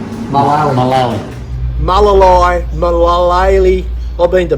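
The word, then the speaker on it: Mullaley: Not Malalay. Malali.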